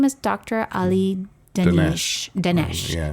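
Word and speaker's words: Danesh: Ali Dinesh. Yeah. And it's spelled like Danish, Danish.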